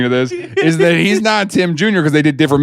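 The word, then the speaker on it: NotTim: Notum. It's not Notum. It's not Tim. There's a glottal stop in there.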